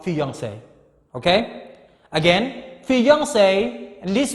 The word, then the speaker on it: fiancé: another word related to fiancé. Fiancé here is for the lady, and fiancé here is for the man. Okay? Just only different, a little bit, slightly different. 2E and 1E, but the same pronunciation.